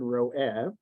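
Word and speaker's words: רועה: So if you just hear the word ro'eh, it sounds like the word resh aleph hey, to see. But here, it's written resh ayin hey, shepherd. So the God who shepherds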